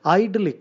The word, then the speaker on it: idyllic: You see, it sounds like actually idli licking.